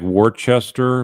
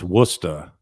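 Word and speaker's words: Worcester: Tina, you say you live in it looks like Wartchester, but I had uh somebody in the army used to he came from there and it's Wora Wora Massachusetts.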